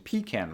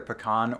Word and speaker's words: pecan: English, some speakers started shifting the stress to the first *syllable, probably because of phrases like "pecan pie", and so the pronunciation /ˈpikæn/ was introduced. But if you want to go by the original pronunciation, then neither /pɪˈkɑn/ or /ˈpikæn/ is correct, because the original pronunciation was /pɑkɑn/.